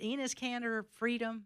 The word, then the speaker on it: Enes Kanter Freedom: And is it Enes Kanter Freedom?